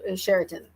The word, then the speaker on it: Sheraton: I was like, it's like the hotel. But wait, is it like the hotel? Okay, I'm just going to say it like the hotel and then but so Sheraton. Yay, I got it right.